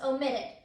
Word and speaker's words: omitted: So after we add the suffix, ed, it becomes omitted, right? And so whenever we say omitted, then you can hear that the last syllable is again the strongest syllable.